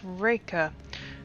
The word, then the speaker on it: Reka: you have a name Reka Reika raika not quite during the pronunciation h i see yes raika of course it is